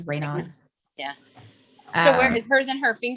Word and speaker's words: Raynaud's: How do you say it? Raynaud's. That's how she pronounced it. It was Raynaud's.